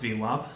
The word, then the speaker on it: VWAP: It could be pronounced VWAP. Some people do that.